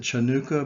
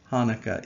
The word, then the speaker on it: Hanukkah: december 11th through the 18th sometimes you see hanukkah spelled with a c before it uh and you might want to pronounce it chanukah but that would be wrong it is still pronounced hanukkah even with the sea in front of it